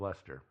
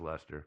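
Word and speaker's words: Leicester: Dudley uh Earl of leester and for those of you who are not British uh this is spelled it's spell leester leester uh but let pronounced Lester I really we got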